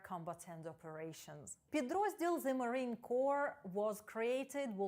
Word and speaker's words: Corps: Corps вимовляється без літер P та S.